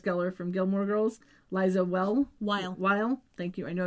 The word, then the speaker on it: Weil: Murder co-star, Paris Geller from Gilmore Girls, Liza Weil. Thank you. I know I was going to say it wrong. Liza Weil, since 2016.